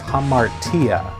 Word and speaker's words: hamartia: sin was hata and the new testament greek for the word sin was hamartia and you're supposed to roll that r but i just can't